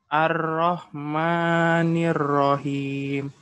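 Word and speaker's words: الرحيم: Jadi Rahman dengan Rahimnya harus beda gitu. Maknya berapa? 2. Hanya mat tabi'i biasa, mat asli namanya. Kalau Rahim tadi yang udah Ana bahas, mat arid li sukun ya. Jadi 3 sampai 4.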